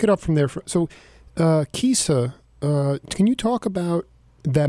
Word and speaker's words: Chisa: And it's pronounced Kisa. Kisa, thank you. Like Kisa. Chisa.